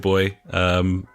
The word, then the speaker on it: buoy: we're talking about a buoy, and this joke won't work for you. What? No one told me this. Shattered his very existence there, ladies and gentlemen. They don't pronounce it boy.